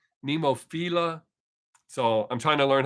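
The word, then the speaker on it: Nemophila: it the correctly says i do pronounce pneumophila is how you say flower but i was told that the band actually pronounces it nemo fila so i'm trying to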